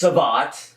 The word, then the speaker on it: savate: Well, first off, it's pronounced savate.